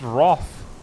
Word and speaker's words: wrath: of people are but apparently it's pronounced Roth with an a well what is pronunciation